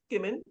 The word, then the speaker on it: Gimon: My last name is GIM like Mary, ON like Nancy. So it's pronounced Gimon.